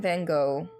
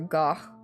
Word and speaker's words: Van Gogh: Portrait of Lady Ashbury by Vincent Van Gogh or Gooff, depending on how you want to pronounce it.